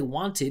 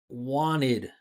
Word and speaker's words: wanted: So we don't say wanted, we say wanted. Hear that? Wanted. That's it. Wanted.